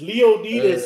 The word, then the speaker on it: Leonidas: It's Leonidas is how you pronounce his name in ancient Greek.